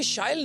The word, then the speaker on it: Shyle: So as you just said, it rhymes with style।